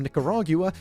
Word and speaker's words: Nicaragua: If a company from Nicaragua made, and that is how we pronounce it in the UK, don't give me shit,